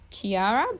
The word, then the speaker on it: Qiara: When I saw my midwife, she was amazing and she recommended I use a baby probiotic called Kiara, but it's spelled Qiara.